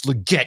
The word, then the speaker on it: Legette: Le it because that's how he wants it pronounced yeah he's like I watched him at South Carolina it's Legette you don't know anything I'm like tell it